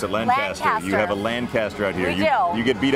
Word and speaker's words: Lancaster: And that's the way we pronounce it in the East. I know you pronounce it Lancaster. You have a Lancaster out here.